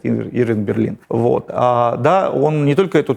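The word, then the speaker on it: Irving Berlin: Он Бейлин сначала был, потом тут опечатка, описка кого-то из делопроизводителей, стал Берлином даже, они здесь ударение ставят, Ирвинг Берлин.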